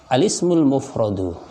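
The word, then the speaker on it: الاسم المفرد: Al-awwalu alismul mufradu, isim mufrad. Ya, bacanya alismul mufradu. Sekali lagi tulisan isim tanpa hamzah di bawah alif, sehingga alismul mufradu.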